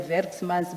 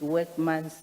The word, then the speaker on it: Werksmans: like the appointment of, I call them Werksmans, but I understand it's not the correct pronunciation, it's Workmans.